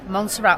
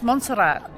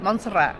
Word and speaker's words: Montserrat: original oldest part of monsterra up here yeah and the plaque above that Archway is the plaque or the sort of symbol of monsterra monster Mon it's monat that's how you say it monat yeah yeah and from